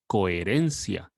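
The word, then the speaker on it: coherencia: now some examples are coerencia do repeat after me now if you want to speak in spanish from spain you would say notice that we don't pronounce the h in the middle another example is e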